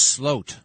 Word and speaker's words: Sloot: And Joran van der Sloot, also, it's spelled Sloot, but it's pronounced Sloat.